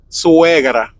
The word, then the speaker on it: suegra: In Spanish, suegra.